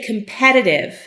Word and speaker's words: competitive: Now notice if I say competitive, the accent is on this E.